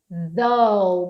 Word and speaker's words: though: Even though, vocês me perguntam muito a pronúncia disso daqui, olha. Imagina que a gente tá falando assim, ó, though. É como se a gente estivesse falando assim, dou, tipo assim, eu dou